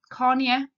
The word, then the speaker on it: cornea: it you say it cornea you say i say connie you say okay and the syllables there you've got corn yeah okay again three syllables corny the cornea okay and the definition